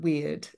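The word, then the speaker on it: wyrd: and Co you know it's called to be weird but it's spelled w yr d um as opposed to you know the English version of weird and hey I I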